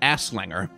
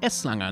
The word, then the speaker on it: Eslanger: to dr eslanger and it's very important that you say s langa because if you just pronounce it too quickly without very carefully pronouncing it s you might accidentally pronounce it aslanger asslanger and you don't want to say ass slanger because he's called eslanga not aslanger dr aslanger so